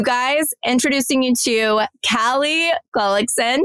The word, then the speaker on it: Gullickson: You guys, introducing you to Callie Gullickson. Did I say it right? Gullickson. You said it perfectly.